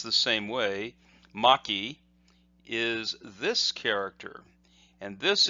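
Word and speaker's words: 巻: which essentially means the same thing and is pronounced the same way Maki is this character and this is the character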